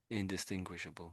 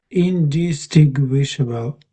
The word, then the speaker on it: indistinguishable: Indistinguishable. Yeah. So So there's no W there, but we're sort of making it a W. Indisting WWishable. That's sort of what we're saying. Sort of. Pretty much indistinguishable.